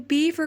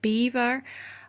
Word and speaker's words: Belvoir: to Belvoir Castle, and if you're French you will be mad with me for pronouncing it Belvoir, but it is Belvoir Castle, and the English didn't really know how to pronounce it right, and so right now these days it is called Belvoir Castle.